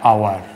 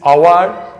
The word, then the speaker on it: hour: Sometimes you might have the consonant sound, but the consonant sound remains silent and there the vowel sound is pronounced. So in this case you have to use N. For example, an hour, an air, an honest person.